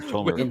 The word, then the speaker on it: Tomer: So unpronounceable Japanese name, but I'm sure Tomer. Which shockingly is the way to pronounce it.